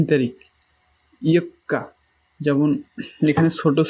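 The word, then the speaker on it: 四日: আর এই যে 4 তারিখেরটা একটু ভালোভাবে দেখেন, ছোট সু আছে, পরের কটা হচ্ছে 2 বার উচ্চারণ হবে। ইয়ক্কা, ইয়ক্কা মানে 4 তারিখ, ইয়ক্কা।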